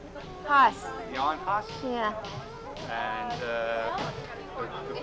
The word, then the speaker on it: Hus: How do you pronounce his name? Haas.